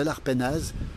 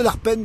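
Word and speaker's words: Arpenaz: on est sur cette cascade de l'arpenase ou de l'arpen comme disent les anciens ici puisqu'en Pays de Savoie on ne prononce pas les les Z et parfois pas les a cascade de l'arpen ou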